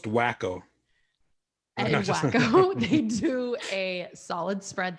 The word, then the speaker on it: Waco: waco which is always i believe it's pronounced wacko they do a solid